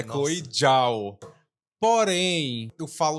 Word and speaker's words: Chloé Zhao: Então, assim, vamos subir pro piso térreo, vamos voltar e explicar um pouco quem é Chloe Zhao.